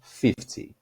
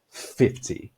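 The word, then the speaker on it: fifty: No 50, a força tá na primeira sílaba, então vou falar 50. 50.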